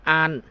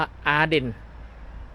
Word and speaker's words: Arden: สถานี รถ ไฟ เมือง อ้าน ประเทศ เดนมาร์ก อ่าน ว่า อ้าน ภาษา อังกฤษ อ่าน ว่า อาเดน แต่ ภาษา เดนมาร์ก ว่า อ่าน นี่ เฮา กำลัง สิ